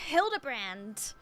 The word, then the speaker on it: Hildibrand: It's pronounced Hildabbrand.